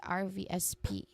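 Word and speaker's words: RSVP: When it comes to pronunciation, you just simply say each each letter clearly. R V SP.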